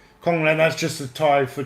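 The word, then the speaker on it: ของเล่น: Kong Len. Huh? Kong Len. Kong Len, yes. That we all got an education today. I never expect. That's a pretty cool name. Kong Len, that's just a Thai for toy.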